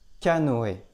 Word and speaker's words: canoë: Il a aussi une autre prononciation et, comme dans canoë.